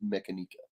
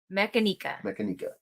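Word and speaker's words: Mechanika: uh mechanica and he he said the mechanica mechanica yeah mechanica that's what he said so i'm assuming it's the right way to say it benitez joe benitez she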